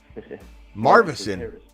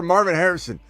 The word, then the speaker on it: Marvin Harrison: just say yeah marvon marvon Harris say his name again marvon marvon Harris yes sir you like Marvin and Harris I like it better show some respect for Marvin Harrison okay hey at least